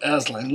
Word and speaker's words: Aslan: telling us about ashlynn or you can pronounce it Aslan Lewis said he pronounced it KSS l am Estlin but not ass us kind of a pronunciation so what's he saying